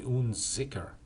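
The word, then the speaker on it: Unzicker: accepted um but um I think it's actually uniker yeah it's spelled that way but I like uner better I think I'm going to say uner his first name is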